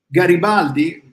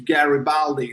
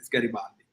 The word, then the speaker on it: Garibaldi: Garibaldi is Garibaldi. They always change it to Garibaldi, but it's Garibaldi.